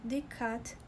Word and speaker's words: dikkat: Esse verbo é um pouquinho complicado até de pronunciar, porque ele tem uma pausa leve aqui, porque temos duas letras K, tá? E cada letra em turco, em regra, é pronunciada.